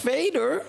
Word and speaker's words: vader: although the movie employs the pronunciation Darth Vader in Dutch v a d e r pronounced f means father spoiler alert now it